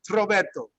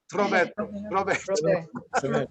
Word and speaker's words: Roberto: Put the T in front of Roberto and go Roberto. Roberto, Roberto.